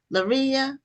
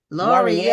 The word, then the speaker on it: Laurier: Now, your last name is pronounced uh is it pronounced Laria? Laurier. Laurier. I was way way off.